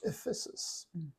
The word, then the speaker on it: Ephesus: of Caesarea and then to the city of Ephesus. Okay, did I pronounce it right?